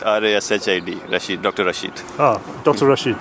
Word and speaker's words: Rashid: Can you spell that for me? Because I'm going to. You can say me Rashid, R-A-S-H-I-D, Rashid, Dr.